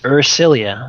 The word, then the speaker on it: Ersilia: that she is senator ursilia melkar indeed all right celia i always want to spell that with a you why because it's ur cilia that's right that makes